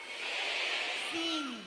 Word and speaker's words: sim: Just si? Sim. Not si. Sim.